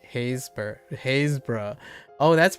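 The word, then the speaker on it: Happisburgh: You don't pronounce the P. Oh, so Hapsburg. So it's pronounced more like Hazeburg.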